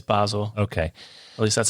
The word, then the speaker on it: Basel: Yeah, it's Basel.